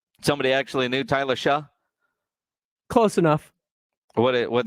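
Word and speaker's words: Tyler Shough: then everybody else the amount of disrespect for tyler shaw is that how you say his name yeah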